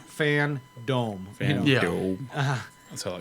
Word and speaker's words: FanDome: i you know i i call it fandom but it's fan dc fan dome yeah that's what i